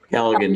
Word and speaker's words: Callaghan: Am I saying it right, Callaghan? Callaghan, yes, Your Honor.